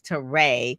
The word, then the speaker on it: Terre: So I'm going to say it's Terré, not Terre.